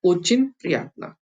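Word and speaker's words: очень приятно: तो ये होता है ओचिन प्रियात्ना, ओचिन प्रियात्ना। यहाँ पे जो ये ओ है, ये आ की तरह प्रोनाउंस होता है, जैसे हमने कभी देखा था शुरुआत की वीडियोस में, आ की तरह।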